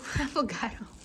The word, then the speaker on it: affogato: Affogato. How to pronounce it, babe?